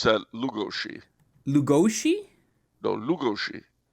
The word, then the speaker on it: Lugosi: supermen who will conquer the world thank you bello lugosi indeed pride of the monster in 1956. all right uh you should pronounce that lugoshi lugoshi no lugoshi lugoshi okay lugoshi interesting he is from bella from